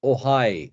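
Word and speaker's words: Ojai: of B and by the way this is pronounced ohigh it's this Spanish thing okay J becomes yeah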